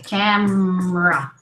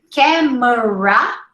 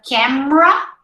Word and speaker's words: camera: the chat you say camera all right not camera you see where you can have an accent if you say camera three syllables instead of camera there you you people